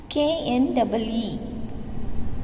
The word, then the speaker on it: knee: K-N-E-E, knee. Here K is silent, children.